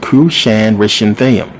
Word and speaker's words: Cushan-Rishathaim: This is how you pronounce it, believe it or not. Cushan-Rishathaim, who was the king of Mesopotamia.